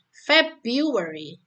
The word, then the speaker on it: February: Jadi di apa itu huruf bulan itu Januari dan Februari ini bisa menggunakan pola ditekankan pada silabel awal ya. January, February.